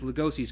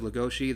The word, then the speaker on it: Legoshi: me to BEASTARS is Legoshi's character, and I'm just saying Legoshi instead of Legoshi. The Legoshi kind of comes from the Japanese pronunciation. I mean, technically it's Legoshi if we're pronouncing it in English.